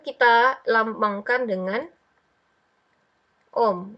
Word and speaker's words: Ohm: mengalir kemudian kita punya Om kita punya hambatan untuk menahan atau mengutuk mengontrol arus listrik hambatan Hai ini atau resistor itu tuh kita lambangkan dengan a Hai Om dibacanya om om ndak jadi kita balik